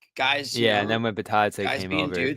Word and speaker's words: Bitadze: Well, what happened was Bitadze, right? That's the pronunciation.